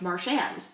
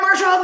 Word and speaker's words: Marchand: ago, and he said, I would prefer it pronounced Marchand, which is the hard, right?